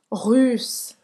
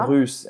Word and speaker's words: russe: Russe. Russe. Russe, biquinho. Você vai fazer a boca do U em português e você vai tentar pronunciar I, certo?